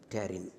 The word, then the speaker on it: pterin: Okay, this is, I will write down here so that you will, P is silent, pterin.